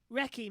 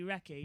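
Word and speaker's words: recce: actual thing it's a medical going for a race spelled r e c c e what's wrong with them today Ricky Megan Ricky it's meant to be race yeah but it's spelled wrong wreck their wrecky is actually spelled wrong as well so it looks like race but it's meant to be wrecky yeah it makes me want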